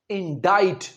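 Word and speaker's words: indict: इंडिक नहीं कहना। इसका सही प्रोनंसिएशन है इंडाइट।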